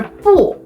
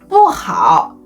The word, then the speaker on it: 不: On the other hand, when 不 is followed by a syllable in the fourth tone, it changes into the second tone.